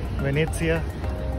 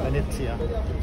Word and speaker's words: Venezia: Venezia. Wow. You know the Italian pronunciation? Yeah, Venice or Venezia.